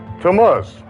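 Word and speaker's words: Tammuz: of the fourth month can anyone pronounce that for me to mus right on the Biblical Hebrew calendar we have the month of temaz that's what it is on the Jewish calendar does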